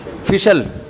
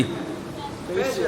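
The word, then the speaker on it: facial: फिशल फिशल फिशल फैशल अबे सही pronunciation बुलवाया करो। फिशल ना फैशल ये अमेरिका से आए हैं। ये सही बताएंगे। जी? फेशियल फेशियल फेशियल यह अमेरिका से आएं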